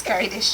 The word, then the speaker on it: Keridesh: i am dr uh karadesh missed out in uh has promised that she'll try not to uh to pronounce my first name but it's carried is or better known as